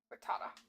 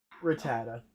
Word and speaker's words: Rattata: Rattata. Rattata. I'm saying it wrong. I'm saying his name like he's a frittata.